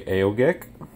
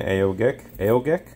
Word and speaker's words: Aogek: the AO I'm going to say AO gek I'll be cussed out by somebody saying I'm pronouncing it wrong but I'm saying AO AEK aoj anyway wireless doorbell it's a